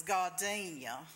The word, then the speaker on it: gardenia: of a gardenia actually the only way I've ever heard it pronounces God Danielle I won't make ya'll say that either my great-grandmother was from Selma and I think that's how she said it because though that's how I learned it anyway I think the